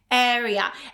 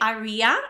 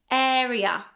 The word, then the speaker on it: area: Repeat after me, area. And very often people say area, okay? It's incorrect. There is no ia ending here. It's simply area.